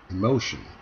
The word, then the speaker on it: emotion: 이 첫 음절 e에 강세가 있는 것이 아니고 두 번째 음절 no에 강세가 있어요. 그래서 이 단어를 발음할 때 만약에 이 단어를 모른다 하더라도 이 단어를 읽으려면 emotion 라고 읽는 것은 최소한 알 수 있다는 거죠.